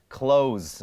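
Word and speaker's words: clothes: จะ ขี้ เกียจ ไม่ ไม่ ได้ ออก เสียง ตัว th ตรง นี้ ไม่ ได้ บอก ว่า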